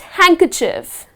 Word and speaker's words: handkerchief: to pronounce the word the d is gone you do not pronounce that letter so the first one is handkerchief so it's just handkerchief well handkerchief is the